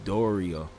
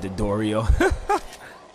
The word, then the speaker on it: Dodrio: Whoa, the Doria. I said Dodrio. Dodrio. I'll be pronouncing their names wrong.